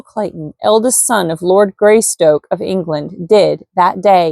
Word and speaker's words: Greystoke: son of the Lord gry stroke gry Stoke of England I don't know why I keep trying to pronounce it gry stroke his great Stoke like stoking a fire Lord greystoke of England did that day in